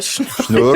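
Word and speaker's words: Snjór: Vous n'avez pas la prononciation? Non, pas encore. Schnur.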